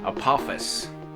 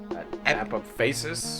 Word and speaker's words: apophasis: Apophis. There's another syllable in there. Apophasis? Apophasis, I think, yes.